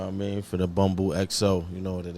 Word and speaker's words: Bumbu: So we sitting here with some, how you pronounce it, Bumbu? It's Bumbu, you know what I mean?